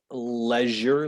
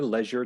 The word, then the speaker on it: leisure: time every time yeah there's two ways to pronounce it leisure leisure time or leisure time what do you like